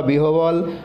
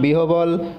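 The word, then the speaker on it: বিহ্বল: বফলা দিয়ে শব্দ পেলাম, বিহবল গহবর আহ্বান। এবার এখান থেকে আমরা কি জানতে পারলাম, বফলাযুক্ত বর্ণ উচ্চারণকালে বফলার ব শুনতে পাওয়া যায় না।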